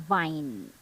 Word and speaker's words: vine: the same time and practice pronouncing the W as in one wine and v as in Vine so now yes wine